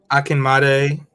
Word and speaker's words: Akinmade: Akinmade.